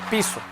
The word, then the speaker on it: Piso: toda la creación de la familia calpurnio piso pronunciado piso que eran aristócratas romanos el nuevo testamento y